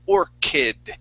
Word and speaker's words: orchid: So you had said orchid washed ashore, so this is orchid. So we're going to use a K sound here.